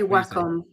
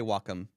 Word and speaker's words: Wacom: or Wacom I say Wacom you because because I'm in Italy so that's how they that's how they would pronounce it so I I say I say Wacom um uh I switched